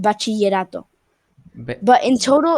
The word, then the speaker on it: bachillerato: 2 years of a thing called bachillerato. Ba- But in total, it's bachillerato. It's like Bachillerato. I am pronouncing it wrong. yeah, I know. no, Bachi you're pronouncing it good. Bachillerato.